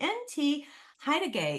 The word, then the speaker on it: N.T. Hettigei: I have a really great gentleman here today NT haay is here and hopefully I've pronounced your name properly is that right n